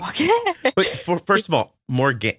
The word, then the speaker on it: Morganne: Anne on the end of Morgan. Morganne. Mm-hmm. That's the English way to say it, I suppose.